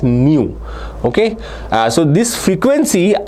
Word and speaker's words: nu: Now uh it is written as NU but it is pronounced as new.